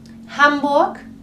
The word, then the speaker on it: Hamburg: Au quiere decir también hambur la H es aspirada es una ciudad en